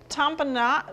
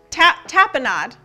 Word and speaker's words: tapenade: Making a tampinade. Wait, what's it called? Tampinade? Yeah, it's tampinade. Tapenade. There's no M.